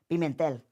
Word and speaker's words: Pimentel: Pimentel.